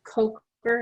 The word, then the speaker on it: Coker: move on to michelle michelle is your last name pronounced coker is that correct for me yes okay